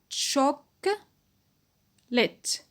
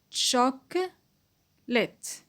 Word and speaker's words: chocolate: syllable to the store to buy Chalk lit chock lit so nine syllables great I move to